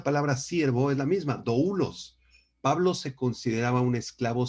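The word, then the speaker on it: δοῦλος: importantes de Nuevo Testamento doulos con acento en la u y describe a un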